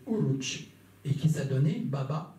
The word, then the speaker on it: Oruç: donné par ses hommes, a prononcé en turc Oruç. Harouj c'est Oruç, et qui s'est donné Baba Oruç, déformé en Barberousse, en latin, dans les langues latines.